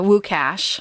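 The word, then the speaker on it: Łukasz: got to talk to woo cash his name is spelled Lucas in the in the article from pine64 on on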